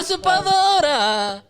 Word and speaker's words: Usurpadora: All right, so I seen La Usurpadora. nah. El Clon. That's how I learned all about. La Usurpadora.